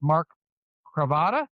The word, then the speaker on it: Mark Cravata: It's Mark Cravata.